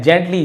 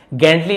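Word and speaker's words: gently: जेंटली जी के बाद है ना ई हो या आई हो या वाई हो तो ज पढ़ते हैं। ज्यादातर हर बार तो नहीं गेंटली नहीं बोलेंगे।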